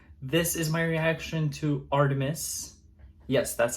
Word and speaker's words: ARTMS: you might think it's art Ms I thought it was at first too but it's Artemis like the Greek god goddess I mean which has